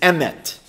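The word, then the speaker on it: אמת: slide and the hebrew word for truth is Emmett or if you pronounce it like an Ashkenazi Jew would ms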